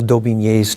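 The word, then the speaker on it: d'Aubigné: But on the other hand, Mel Daubigny's 2 volumes on the Reformation. You have to spell that for average people like me.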